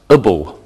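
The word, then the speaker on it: -able: An adjective can end with A-B-L-E, which is pronounced ibble.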